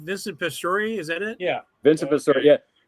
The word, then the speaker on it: Vincent Pastore: Vincent Pastore, is that it?